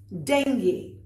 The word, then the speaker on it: dengue: It can be dengue, it can be dengue. What it is not is dengue, even if it's spelled that way. So remember, dengue is fine, dengue is not.